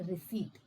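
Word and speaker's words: receipt: यह रिसीप्ट नहीं है। इसमें पर्स साइलेंट होता है। यह रिसीप्ट है।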